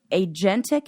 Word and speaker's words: agentic: And they are agentic extroversion. I think that's how you pronounce it.